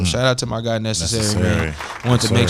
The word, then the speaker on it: Knscry: You can find him at Necessary. It's spelled Knscry.